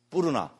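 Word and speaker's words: Puṇṇa: 뿌르나 산스크리트는 러 이런 발음 빨리어는 러 이런 게 없잖아요. 그죠? 예를 들어서 다르마 이런 거 안 하잖아요. 그죠? 담마 이래 뿌죠. 그죠? 그래서 뿌르나가 이 빨리어로는 뿐나 존자입니다.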